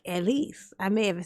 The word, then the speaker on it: Elise: Elise, I think. LC. I think you pronounced that LC. That's No, no, it's not Elsie. If it's E L I S E.